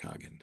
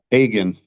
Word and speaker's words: Hagen: information that is Hogan? And did and did I pronounce that last name right? Hagen. Hagen. Okay.